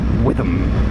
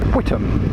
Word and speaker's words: Witham: For today's journey involves going all the way to a tiny back-arse town in Essex called Witham, or Whittam, depending on how you want to pronounce it.